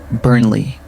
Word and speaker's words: Burnley: Burnley. Burnley. Simple two-cllable pronunciation. Stress first syllable.